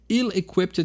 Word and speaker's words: ill-equipped: Ill-equipped to act, né, ill-equipped to act, aqui deu uma espanholada, né, ill-equipped to act, né? O não se pronuncia tão forte os L's, né?